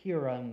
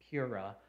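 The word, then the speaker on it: Purah: of the enemy camp whenever I first first read Pura I pronounced it Pura and then I thought it was to uh Pura something like that puru and I finally had to see how to pronounce it correctly Pur even when Gideon even when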